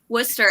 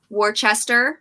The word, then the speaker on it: Worcester: to give it away but whisper wooster everybody always says worcester wrong like yeah worchester yeah i say warchest